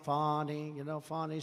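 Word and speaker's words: Fani: including local Das and local attorney generals and fonnie faie you know fonnie spelled f a ni I my name is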